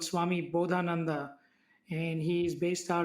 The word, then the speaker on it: Bodhananda: how do you how do you say that bodhananda which is b o d h a n